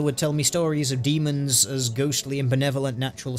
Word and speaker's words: daemon: Yeah, you'd still pronounce that word as demons. It's supposed to have an not an ampersand, it's supposed to have an ash symbol. It's not an AE separately, it should be an ash symbol, and it would still be pronounced demon. Calling them daemon just sounds a little bit weird.